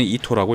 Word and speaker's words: 伊東: 둘 다 읽기는 이토라고 읽습니다.